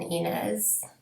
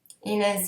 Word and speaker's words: Inès: There's an accent grave above the E in INÈS. So I think I'm pronouncing that correctly.